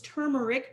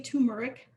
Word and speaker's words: turmeric: salt pepper turmeric turmeric i always say it wrong it's turmeric but i say turmeric so the turmeric is